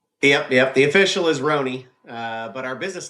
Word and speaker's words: Rhone: The official is Ron. Uh but our business name is Ron Casa Hospitality.